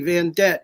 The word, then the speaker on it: Vandette: So, V as in Victor, A-N-D like David, E-T-T-E, Van Det. It rhymes with a Corvette, so you don't forget.